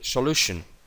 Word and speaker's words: solution: Solution. Acaba en tion, pues aquí. La aspirada normal.